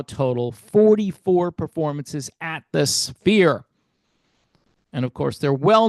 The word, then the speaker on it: Sphere: So, the band is currently at the Sphere in Las Vegas. It's like a four syllable word. Sphere. No, sphere. You got to say it quick. It's one syllable.